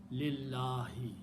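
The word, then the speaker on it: لله: Harf jar changes this last letter to a kasra, and when you pronounce, you combine lam with the other lam. Don't pronounce alif in between. Lillahi.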